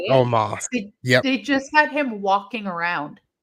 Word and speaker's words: Omos: Omos? Is that how you say it? Omos.